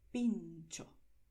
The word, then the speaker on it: pintxo: En español escribes pincho, en vasco escribes pincho, pero pronuncias de la misma manera, pincho.